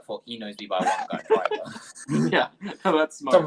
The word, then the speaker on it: Wangan: Well, to be fair, there's multiple ways of pronouncing it. People pronounce it Wangan like you do, but it's pronounced Wangan. So you weren't far off.